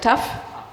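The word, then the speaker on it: ταυ: So this is not Tau, but Taf in modern Greek, and K is called Kappa.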